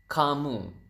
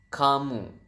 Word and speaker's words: kamu: do you say U you is kamu so Ka and mo so you have kamu and then how do